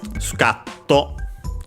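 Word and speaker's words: スカッと: Uh, suka uh sucato should be accented on the car.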